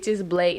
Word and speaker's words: Blaque: Blake I was like so it's Blake not black but it looked like